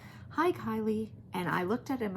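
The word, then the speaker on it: Kiley: So most Kylies are spelled like Kyle, K-Y-L-I-E, Kyle, Kylie. My husband said, it's Kylie, like Riley, K-I-L-E-Y.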